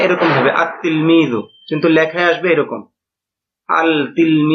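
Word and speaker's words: التلميذ: অনুযায়ী হওয়া উচিত ছিল আল তিলমিজু এরকম না বরং এটা সঠিক উচ্চারণ হবে উচ্চারণে এরকম আতলমি কিন্তু লেখায় আসবে এরকম আল আত্তিলমি মানে এখানে লামটা উচ্চারণ হবে না।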